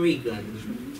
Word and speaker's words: Regan: have heard of Tom Regan. Interestingly, that it rhymes with vegan.